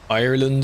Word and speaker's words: Ireland: Ireland is on the way. I have to say it like that otherwise it sounds like I'm saying island.